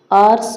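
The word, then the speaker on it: hours: उसके बाद है आर्स डिले। आर्स डिले में एन आ जाएगा क्योंकि यहां पे एच को साइलेंट रखते हैं। ओ से पढ़ते हैं। एच एच को नहीं पढ़ा जाता है।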